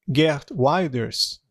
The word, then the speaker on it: Geert Wilders: Isso também é fascinante para mim, porque esse Geert Wilders é o jeito certo de pronunciar, ele é anti-muçulmano.